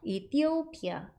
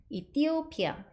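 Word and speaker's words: Ethiopia: 이렇게 발음해 주시면 됩니다 여기 보시면 번데기에 아인데 이렇게 강세가 왔어요 거기에다 강조를 주셔야 되는 거예요 이티오피아 이티오피아 이렇게 발음하시면 됩니다 두 번 해 보실까요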